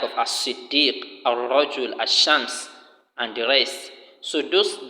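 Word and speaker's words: الشمس: The lam of al-qamar is pronounced and is clear, while the lam of ash-shams is not pronounced and is not shown, except that the letter after the lam is what is doubled.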